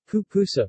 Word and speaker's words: pupusa: A pupusa, Spanish pronunciation, pupusa, from Pipil Pupusawa, is a traditional Salvadoran dish of a thick corn tortilla stuffed with a savory filling.